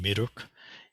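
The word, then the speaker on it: 미륵: It's pronounced Miruk in Sino-Korean.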